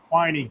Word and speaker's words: Quiney: Quiney. Q U I N E Y. Oh, okay. Rhymes with whiny.